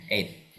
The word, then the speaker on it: eight: Nah, ini 8 cara bacanya. 8. GH-nya tidak dibaca. Jadi langsung 8. I like 8. Saya punya uang 8.000. I have 8,000 rupiah. Jadi 8. GH-nya tidak perlu dibaca.